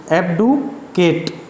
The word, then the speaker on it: abdicate: तो इसको बोलेंगे क्या? EBDUH, एब्डुकेट, KATE, ये इसका प्रोनाउंसिएशन होगा, एब्डुकेट।